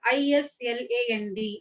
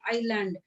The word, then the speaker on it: island: uh it is called i-s-l-a-n-d island some may produce is land it is very wrong the right word to pronounce this island so this is the